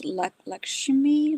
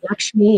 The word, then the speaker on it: Lakshmi: I I the word I'm not sure how to pronounce lakshimi like something like that lakshmi. Yeah, that's Yeah.